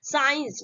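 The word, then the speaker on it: science: rule ए गया है अगर एस के साथ सी लगा हो तो सी हमेशा साइलेंट होता है ठीक है अगर एस आता है ठीक है और एस के बाद जैसे ही आपका सी आएगा जब सी आएगा तो सी क्या होता है आपका साइलेंट होता है और उसको हम क्या करते हैं प्रनंसीएशन नहीं करते ठीक है जैसे यहां पे एग्जांपल्स है साइंस ठीक है यहां पे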